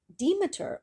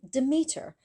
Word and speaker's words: Demeter: on where you live, there are different ways to pronounce Demeter. She can also be called Demeter or even Demeter.